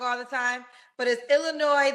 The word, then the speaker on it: Illinois: all the time but it's Illinois the S is silent yes you are so dumb you are really dumb for real but is Illinois the S is silent